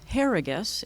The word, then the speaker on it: Herriges: So my name is Harrigus. It rhymes with asparagus, if that helps, corny, but it works.